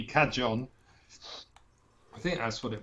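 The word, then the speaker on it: cajón: Because the J may be pronounced Spanish or if it's Portuguese, it would be cajon.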